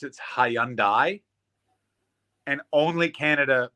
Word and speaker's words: Hyundai: It's like the Hyundai like Sunday in Canada. I mean, I get that. I don't know if... Everywhere else in the world pronounce it Hyundai, and only Canada pronounces it like Hyundai, like Hyundai.